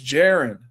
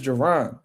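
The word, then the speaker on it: Jaron: But yeah, they always said his name wrong. Um like they call Boots Jiren. J or or Jron. They calling it's Jiron. His name is Giron. And they be calling him Jiren and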